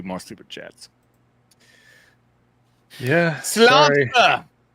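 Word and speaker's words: Sláinte: Slanta. That's how I pronounce it, right? Slanta. Yeah. Slanta. Slanta. Yep. From I'm Irish. It's Irish.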